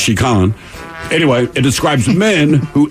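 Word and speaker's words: 痴漢: a word for him it looks like chicken but I believe it's pronounced chican anyway it describes men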